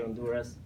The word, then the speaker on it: Honduras: on do dance or you might pronounce in Honduras remember in Spanish we do produce H is silent so I will say on Doris so I want to start saying that it's